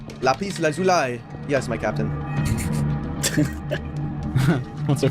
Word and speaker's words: lapis lazuli: It's pronounced lapis lazuli. Lapis lazuli.